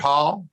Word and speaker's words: Hohl: in third district hall it's not spelled it's spelled h-o-h-l but it's pronounced hall hall and